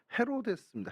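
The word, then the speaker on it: Ἡρῴδης: 중동의 이야기 그 이런데 헬라어로는 헤로데스 헤로데스 헤로데스 어이 헤로데스 또 헤로디아 뭐 이렇게 되는데요 헤로데스 하다 보면 좀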